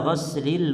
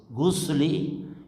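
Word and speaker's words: غسل: Kalau antum bacanya gusli itu artinya mandi. Tapi kalau ghinnya di fathah ghasli, inda ghasli artinya membasuh. Jadi beda.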